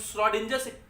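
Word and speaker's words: Schrödinger: इसको हम लोग श्रोडिंजर्स कैट कहते हैं। श्रोडिंजर्स कैट, श्रोडिंजर्स एक साइंटिस्ट है, श्रोडिंजर्स प्रोनाउंस करते हैं, श्रोडिंजर्स कैट बोल सकते हैं आप उसको।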